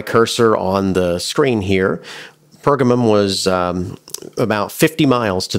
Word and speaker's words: Pergamum: Sometimes it's pronounced Pergamum. Pergamum is the more common pronunciation, and I'll try and stick with that, although I may slip